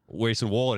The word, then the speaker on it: Grayson Waller: So he's Grayson Waller. Grayson Waller. Did I say Waller. Walker?